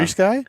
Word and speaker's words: FrSky: FrSky?